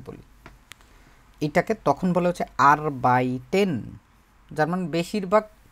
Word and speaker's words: Arbeit: উপরে দেখছিলাম একবার মনে আছে আপনাদের শুধু কাজ আরবাইট উচ্চারণটা কি আরবাইট তারপরে হচ্ছে বাইট।